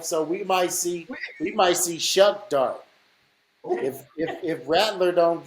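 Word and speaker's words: Shough: Shuck. It looks like show, Oh, S but H O U G H. it's pronounced Who Shuck.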